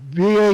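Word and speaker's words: וָו: now the sixth letter is the Hebrew letter VA I pronounce it V I've seen it also pronounce h a w but I'm going the common one is VA V or VA W VA now the the letter VA is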